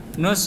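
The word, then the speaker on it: نص: wa ya am Irak Nus itu dari kata nisf nisf dibacanya Nus i n eanya enggak kedengaran ya tapi tulisannya Nis BAC l juben artinya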